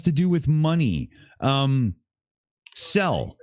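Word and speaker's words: Zelle: do with money um sell okay pronounced like cell okay thanks Jay MJ yeah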